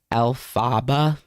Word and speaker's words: Elphaba: Elphaba, that's how you say it.